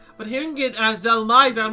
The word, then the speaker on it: Dhelmise: I always pronounce it Dhelmise, but hearing it as Dhelmise, I'm like, oh, that makes sense, like Demise.